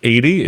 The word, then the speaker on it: Edie: I'm going to mispronounce that and say Eddie at some point. Me too. I constantly think of Eddie, but yeah, it's Edie, and she's like the attractive blonde girl.